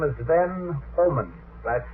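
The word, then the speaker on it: Ahman: One, a gentleman by the name of Sven Oman. That's spelled A-H-M-A-N.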